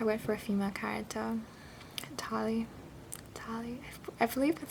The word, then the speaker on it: Tali: If I went for a female character, Tali, I believe that's how you pronounce her name.